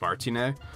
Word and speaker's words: Martinet: I'd assume that the T is silent, so I'm assuming it's Charles Martinet.